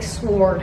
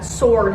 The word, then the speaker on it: sword: Why do I keep saying it like sword? Like the W is silent. I don't know what I don't get about that. Sword.